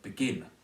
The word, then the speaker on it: begin: The word begin is stressed on the second syllable.